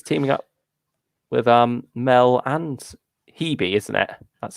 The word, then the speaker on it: Hebe: He's teaming up with Mel and Hebe, isn't it? That's how that one's pronounced.